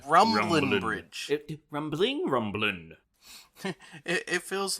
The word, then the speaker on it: Rumbling Bridge: guys bye it's not pronounced rumbling there's no g in the station rumbling bridge rambling rumbling it feels